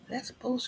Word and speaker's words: Lesbos: Lesbos, Greece. Why Yeah, does it sound like Lesbo, Greece? Lesbo. pretty much.